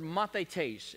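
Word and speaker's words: μαθηταί: In the Greek language, the word disciple, it's pronounced the word mathetes.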